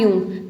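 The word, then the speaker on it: Jung: फिर आता है कार्ल यंग। तो इसको कैसे प्रोनाउंस करेंगे? Karl यंग। ठीक है? इसको जंग नहीं बोलेंगे। यूंग बोलेंगे।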